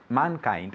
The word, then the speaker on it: mankind: Mankind. Again? Mankind. Perfect, good. Mankind, with the D at the end.